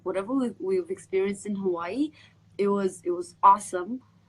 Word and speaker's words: Hawaii: know how to pronounce we say Hawaii right but in Hawaii they say Hawaii so how I write